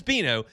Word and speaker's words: Bino: And it's Beano. And And like I'm telling I'm being full disclosure here. I have a tab up with his statistics right here. And every time I'm about to say his name, I look down at the tab to make sure I say the right thing. I will say Dino at some point, but it is Beano.